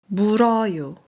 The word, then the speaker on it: 물어요: So, when you pronounce 물, 어유. which means to bite, you actually read it as 물어요.